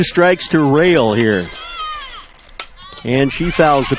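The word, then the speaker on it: Rahl: It's R-A-H-L, but it's pronounced Rail.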